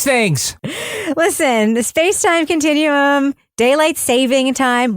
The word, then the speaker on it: daylight saving time: listen the SpaceTime Continuum daylight saving time which by the way is how you say it not daylight savings H it's daylight saving time which means that